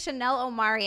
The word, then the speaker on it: Chanel Omari: that's where you'll know her from this is Chanel Omari and I'm saying your name right right I